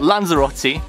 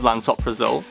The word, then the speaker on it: lansoprazole: First, I've got Lanzarote instead of Lansoprazole, Amplodipine instead of Amlodipine, and Ramiprilo, which I call it the Italian version of saying Ramipril.